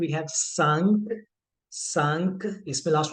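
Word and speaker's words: six: फर सिक्स व have स सिस लिखा सेम जाएगा जैसे हम इंग्लिश में लिखते हैं but sound is नॉट सिक्स इट इज सिस एंड for seven the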